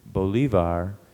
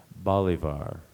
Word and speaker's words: bolivar: PR pronunciations it's uh the primary pronunciation is Bolivar and an alternate pronunciation is Bolivar b o l i